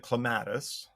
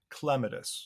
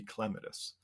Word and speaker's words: clematis: up I called it catus uh but then since I learned that the correct Botanical pronunciation is clitus so the accent is on the first syllable but you know you